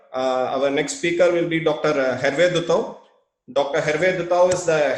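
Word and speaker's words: Dutau: And by the way, you pronounce my name well, because it's Duthau. Yes, in French, A and U sounds O.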